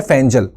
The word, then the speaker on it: Fengal: cyclone फैजल ध्यान रखिएगा फैंगल spelling है पर प्रोनंसिएशन है फैजल तो साइक्लोन फैजल रिमेंस